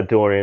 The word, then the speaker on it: Dorian: Dorian. That's how you pronounce it, right? Yeah, Dorian, that's right.